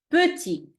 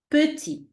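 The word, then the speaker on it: petit: turn perfect let's move to the second example puty which means means small in French puty okay let's repeat after me puty your turn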